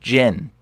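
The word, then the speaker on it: 人: word people in Japanese it's pronounced Jin as in Gentile okay Jin that's how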